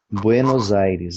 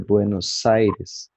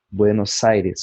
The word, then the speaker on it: Buenos Aires: E quando se pronuncia Buenos Aires, em espanhol, castelhano, enfim, se pronuncia o S com o som dele, de S mesmo, né? Buenos Aires, como aqui, Flores Sornante.